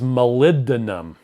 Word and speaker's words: molybdenum: Mike says molybdenum. Oh, is that how you say it? Is that how you pronounce it? Thank you. Really? Because molybdenum. We're saying molybdenum? Yeah, molybdenum.